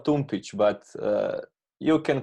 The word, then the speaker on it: Tumpić: pronouncing your name mm-hmm so what do you think how how it pronounces so it's a slap slap yeah okay so it's Thomas love Thomas love tune pitch but you can call